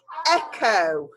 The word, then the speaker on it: echo: Oh, I've just said that we're saying the k, k, k pronunciation for this. So let's try it again. O. Echo.